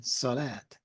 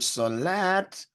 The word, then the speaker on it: Salat: the SL LT in solat the t is a dental that is pronounced towards the front of the mouth using the teeth and the C is